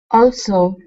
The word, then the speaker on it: also: word also okay so on this s we want to pronounce an unvoiced S instead of saying Alo it's Alo also also good he also accepted